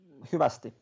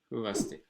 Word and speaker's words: Hyvästi: Hyvästi. Hyvästi. Oh, it's just like in Finnish. That they also said it says hyvästi.